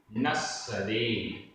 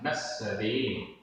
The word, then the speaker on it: नस्सदे: जीव भावो, जीव भावो, न, नस्सदे, नस्सदे, अधसा पुरसा, नस्सदे, न जायते, अण्णो, अण्णो, अधणा पुरणा उपमात्रा, अण्णो।